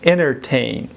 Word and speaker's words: entertain: دوستان عزیز این کلمه یا این لغت در محاوره به شکل entertain تلفظ میشه. شبیه international است.